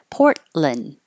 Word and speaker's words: Portland: Portland you can say Lin or Lun either one but you won't hear the T and you won't hear the D when your tongue goes up to the T for the port hold it there and don't release the air port just hold port and then you're in the right position for the L Portland fall open ah and